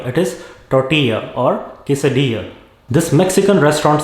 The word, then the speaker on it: tortilla: doing well in sports it is not tortilla or quesadilla it is tortilla or quesadilla this mexican